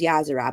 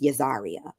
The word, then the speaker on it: Yahzarah: your name to Pieces we kept telling her it was yazer but she was insistent that it was yazar yazar yazar she says